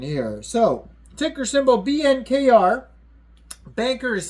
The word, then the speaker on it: BNKR: Banker is spelled B-A-N-K-R, and then coin, all one word.